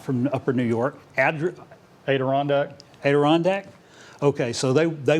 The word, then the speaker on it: Adirondack: many stories uh those advent how do you pronounce that randy we're not from upper new york adirondack adirondack okay so they they went and got